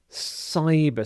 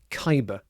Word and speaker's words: cyber: Cyber security. So the C here is pronounced exactly the same as the S here. So not Kyber but cyber.